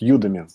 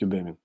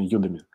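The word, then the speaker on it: Udemy: ми на самом деле я неправильно произношу Потому что надо говорить Юми Ну почему-то по-русски мне хочется произносить юдеми Но на самом деле Да правильно Юми Вот то есть есть ссылочка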